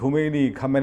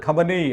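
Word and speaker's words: خامنه‌ای: നമ്മൾ ഈ ഖൊമൈനി എന്നൊക്കെ പറയുന്നതൊക്കെ തമ്മിൽ ചില വ്യത്യാസങ്ങളുണ്ട്. നമുക്കിത് പരിചയമുള്ള പേരുകളല്ലോ. യഥാർത്ഥത്തിൽ ഈ ഖമേനി ഇപ്പോഴത്തെ ആള് ഖമനേയി ആണ് അല്ലേ? അയത്തുള്ള അലി ഖമനേയി ആണ്. ഖമനേയി എന്ന് വേണം ഉച്ചാരണം.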